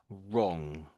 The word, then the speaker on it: wrong: So the the W silent wrong wrong um it's a it's